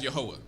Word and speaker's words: Yahuwah: the old testament and we pronounce his name here as yahuwah so wherever you see the lord once again within the holy scriptures that is where in the hebrew language which is the language that the old testament was originally written in that is where you see the name jehovah or some pronouncer yahweh who is the creator